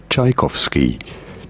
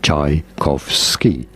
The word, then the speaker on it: Tchaikovsky: How do you go about pronouncing it? His full name was Pyotr Ilyich Tchaikovsky. Tchaikovsky.